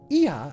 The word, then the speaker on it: Ea: When the vibration of vocal folds was still required to convey our thoughts and intentions, Ia, I believe, was the pronunciation used when referring to our people.